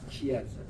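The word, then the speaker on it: chiasm: 그럴 때 이제 여기에 있는 것을 크이라고 읽어요. 그러니까 요거를 이즘이라고 붙이면은 키아즘이라고 읽습니다. 키아즘.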